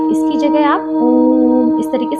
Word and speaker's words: ओम: का इसके बजाय आप ओम। इस प्रकार से उच्चारण करेंगे .